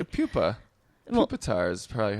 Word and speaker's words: Pupitar: Pupitar is probably how I would pronounce it. Well, they pronounce it like poop, like Pupitar.